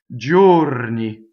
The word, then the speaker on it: giorni: it okay so now let's talk about Geo if the I were not there it would be go right but the eye is only there is a semivowel that disappears to make the G soft so it is journi okay so close though